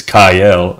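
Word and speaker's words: Kael: wait wait a minute since when was he called kyle was it not kale like i literally haven't had anybody pronounce it it's kyle i think ray's just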